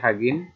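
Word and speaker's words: 확인: মানে একবার, হাগিন হ্যাঁ, এখানে লেখা আছে হওয়া গিন, এই হওয়া গিনটা কিন্তু উচ্চারণ হবে হাগিন, হাগিন, হাগিন মানে চেক,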